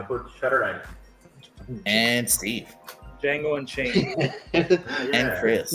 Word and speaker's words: Django: The D is silent. Django Unchained.